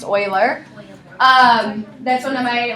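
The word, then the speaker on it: Euler: name is there it looks like it says uler but it's actually pronounced Oiler um that's one of my like math feature of pet peev when um people call this man uler his name is Oiler um we will encounter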